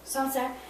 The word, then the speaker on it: Sancerre: So this is from a region that's called Sancerre. Is that right? This is correct. Sancerre.